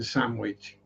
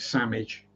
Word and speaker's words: Sandwich: Yes, we do pronounce the W in sandwich. We don't pronounce it Sandwich. It's the Earl of Sandwich. But the CH is DGE, as we would pronounce it. So we don't pronounce it as ch. It's sandwich, not sandwich.